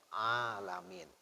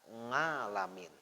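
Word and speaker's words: العالمين: itu bacaan tujuh Imam tidak ada satupun Imam Al Quran ini yang membaca ngalamin ya Tapi bacanya a lam in the ada juga ya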